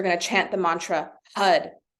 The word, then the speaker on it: Har: chant the Mantra HUD HUD is spelled h-a-r HUD the r sound you want to stop at the top of the mouth like so so it sounds like a d but it's actually an R uh that's all we're